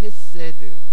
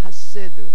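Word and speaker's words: חסד: 이 경건이라는 말은 히브리서 원어에 보면 헤세드 혹은 하세드 그렇게 발음합니다.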